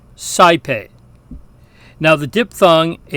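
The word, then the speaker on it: saepe: different sound there but in classical Latin it sounds like I we hear this in the Latin word for often CPE now the dip thong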